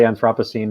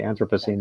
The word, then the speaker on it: Anthropocene: That the British say Anthropocene and we say Anthropocene.